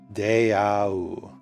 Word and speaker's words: deau: So I'm pretty sure this is, let me make sure I'm pronouncing this correctly. Deau.